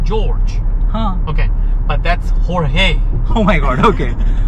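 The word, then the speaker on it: Jorge: Hor-hey! Yea, so their names are badly butchered here, to an extent that they say, "Please call me George". And it's because the right pronunciation is Hor-hey.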